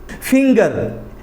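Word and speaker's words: finger: ग पढ़ा जाता है फिंगर उसमें भी एफ आई एन जीई आर जी के बाद ई आता उसमें भी फिंगर होता है तो यह जो है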